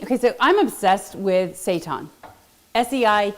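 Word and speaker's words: seitan: i t an and it sounds like Satan okay so it is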